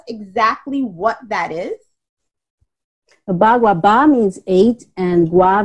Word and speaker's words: Bagua: I've heard of, I might be pronouncing this wrong, correct me if I'm wrong, I've heard of Baga? Bagua.